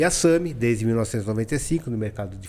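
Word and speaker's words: SAMHI: SAMI se escreve S-A-M-H-I.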